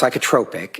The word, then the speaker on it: psychotropic: It's pronounced psychotropic and okay it's psychotropic medication is uh medication that is prescribed to help treat symptoms of mental or emotional disorder.